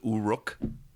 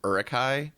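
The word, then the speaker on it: Uruk-hai: Pat also kept on pronouncing everything as Uruk instead of Urukai. He was like Uruks, and I'm like, I've never heard it pronounced that way.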